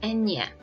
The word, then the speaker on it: ñ: This one is a bit of a special letter, and it's very particular to Spanish language. It's ñ. Ñ, so it has a sound of ñ, like in español, niñera, niño. Español, niñera y niño.